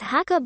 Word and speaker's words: Sakha: for the Yakuts and is pronounced as Hakka by the Dolgans, whose language is either a dialect or a close relative of the Yakut language.